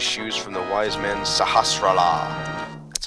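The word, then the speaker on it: Sahasrahla: get the Pegasus shoes from the wise men sahasa that's how you pronounce his name sahastra la sahastra la okay I I should remember it now Power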